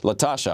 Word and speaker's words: LaTosha: LaTosha, I'm pronouncing that correctly, right?